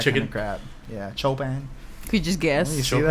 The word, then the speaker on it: Chopin: Chopin, not chopping like everybody. says. Choplin.